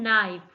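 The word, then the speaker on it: knife: में डब्लू इस next word है नाइफ नाइफ में के नेक्स्ट वर्ड है हमारे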